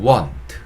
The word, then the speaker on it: want: 자, 원하다라는 뜻을 가진 단어는 want. 그쵸? want. W-A-N-T. want. 라고 발음하시면 되고요.